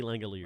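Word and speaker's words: Langeliers: Shay Langalers.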